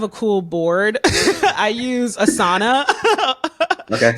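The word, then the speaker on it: Asana: cool board I use assana okay some people pronounce it ASA which I think is nuts um but I use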